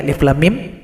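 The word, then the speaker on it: الم: Alif 1 ketukan, lam 6 ketukan, dengungan antara huruf lam dan huruf mim 2, dan mim dipanjangkan 6 ketukan. Alif lam mim.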